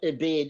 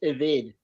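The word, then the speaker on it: עבד: word is not ebed, it's pronounced eved.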